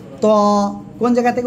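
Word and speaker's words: ط: ত। কোন জায়গা থেকে উচ্চারণ? জিহ্বার আগা, সামনের উপরে 2 দাঁতের আগার সঙ্গে না, গোড়ার সঙ্গে লাগাবেন, লাগে মোটা আওয়াজে উচ্চারণ হবে।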